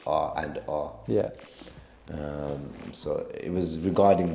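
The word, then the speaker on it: R v R: It's spelled R-V-R, but it's pronounced R and R.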